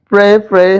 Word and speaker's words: prey: हाँ, प्रे बात एक ही है, same pronunciation, but PRAY इज to worship and PREY इज to Hunt, ठीक है।